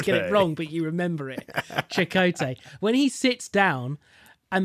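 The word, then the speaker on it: Chakotay: and you always get but you remember it chakote when he sits down and the console comes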